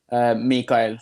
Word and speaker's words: Mikael: How would you pronounce it in Norway? Mikael. That's like I try to say go. Michael because no one can really say it here, so I kind of Americanized it.